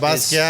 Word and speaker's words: Basquiat: Yeah, it's Basquiat. French, Haitian.